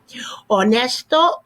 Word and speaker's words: honesto: an example of that honesto honesta silent h obviously no-brainer right comico comica